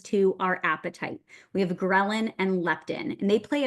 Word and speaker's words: ghrelin: Ghrelin, and I remember from college when we're learning all these hormones for the first time, ghrelin has that grr sound at the beginning. So grr, like your stomach's growling, is what we call the hunger hormone.